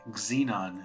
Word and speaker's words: xenon: So, X is for xenon. Xenon is how we pronounce it, like as if it had a Z, but it's xenon.